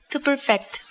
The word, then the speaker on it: perfect: cecilia prodime in english to perfect to perfect that's right notice that the emphasis is on the second syllable perfect perfect perfect perfect